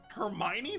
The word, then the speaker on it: Hermione: Hermione? That's how you pronounce that?